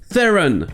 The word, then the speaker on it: Theron: de famille de l'actrice déjà certains le prononce theron avec la première syllabe accentuée et d'autre le prononce ce tron avec la deuxième syllabe accentuées mais charlize theron a grandi en afrique du sud et là bas ça se prononce plus comme fron un trône avec en plus l'accent du pays mais la plupart du